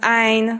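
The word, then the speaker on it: عين: Pronounce Ain from the depths of your throat, from where it hurts, from the words have been accumulated for so long.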